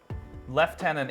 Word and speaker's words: lieutenant: is ours isn't it left tenant is the English way and if I just